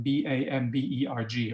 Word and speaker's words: Bamberg: a gorgeous city called bamberg b-a-m-b-e-r-g or bamberg as we say in german it's a bavarian city